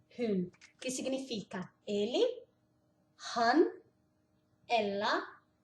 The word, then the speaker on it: hun: Han hun, que significa ele, han, ela, hun. Lembra que o U, o U no norueguês é U, não é u.